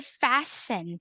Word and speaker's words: fasten: again with this one this is silent T when you say fasten when you say fasten